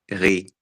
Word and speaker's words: riz: But we don't pronounce the Z at the end. Ri. It's silent.